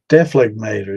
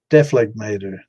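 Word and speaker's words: dephlegmator: So, Deflegmator. That's the way I've heard it. So I guess, yeah, I guess there's different. I guess there's different ways because they definitely. I heard the G in that one, and then that was a woman's voice.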